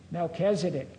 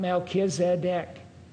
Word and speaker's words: Melchizedek: He did pronounce Melchizedek the way, and Oliver did too, and the way we all do. Melchizedek, not Melchizedek.